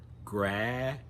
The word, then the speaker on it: graduate: Graduate. So it sounds like the number 8 at the end. And in the middle again, we have that j sound.